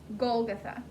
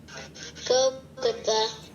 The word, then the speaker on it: Golgotha: It's almost exactly how it's spelled. Golgotha, Golgotha.